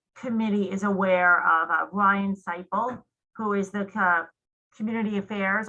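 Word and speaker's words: Seiple: again it was ryan something yeah it's ryan seifel s-e-i-p-l-e he's community affairs officer with pennsylvania state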